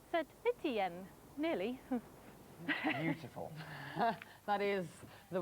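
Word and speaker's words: Saint-Étienne: Johnny said to me to pronounce Saint Etienne with a French accent, Saint Etienne.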